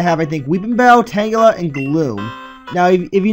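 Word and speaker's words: Tangela: like to call it I I call it Tang tangula but tangula I think is actually the proper pronunciation for it give me a second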